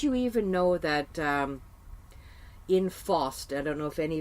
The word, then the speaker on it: Faust: that for the people F a UST we call it Faust ok that's the pronounced ination of Faust I just wanted people